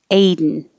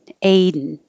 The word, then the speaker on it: Aiden: it there i cave aiden perfectly with two parts a den or your tongue is going to the d position anyway so you can just hold it there for the n aiden aiden same thing happens with